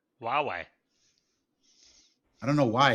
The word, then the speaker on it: Huawei: almost everybody oh you away yeah h-u-w-a-i-i it's pronounced Huawei Huawei I don't know why it's got an H